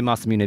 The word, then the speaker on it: Masamune: masamune all right fine i used to say masamune but i'm gonna say masamune because the name comes from a 13th century japanese swordsmith japanese fake net how do you say it konnichiwa so i'm going to enunciate the final syllable which is why i'm